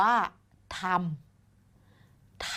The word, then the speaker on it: ทำ: คำ หนึ่ง นะ คะ คำ นี้ อ่าน ว่า ทำ ทำ คำ ว่า ธรรม เกิด จาก ทอ อำ ทำ อีก ครั้ง นะ คะ